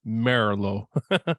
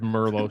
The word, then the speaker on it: Merlo: The Italian pronunciation is Merlo. If you want to be totally correct, but everybody says Merlo, so don't worry about it.